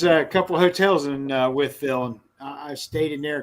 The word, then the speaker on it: Wytheville: For you non-hillbillies, he said Withville. That's actually, when you see it, it will look like Wideville. So, but it's pronounced Withville.